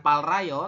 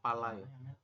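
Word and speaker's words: 빨라요: bawah dan yang atas keduanya dibaca l bukan Pal Rayo tapi kita membacanya adalah palayo terperangkat ya Pal asamualaikum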